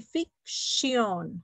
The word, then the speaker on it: fiction: Ok, nosotros lo pronunciamos con S, pero se escribe con una T, fiction, ok, fiction, yes, ok, good,